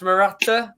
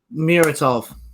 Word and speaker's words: Muratov: But you look at it, we believe it's pronounced Murator. Is that what we're going for? Muratov.